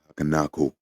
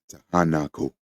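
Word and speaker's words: Tiahuanaco: You've danced in the highlands of Takanaku. Tahanaku. For those that wonder what that word is, it's spelled C I A H U A N A C O.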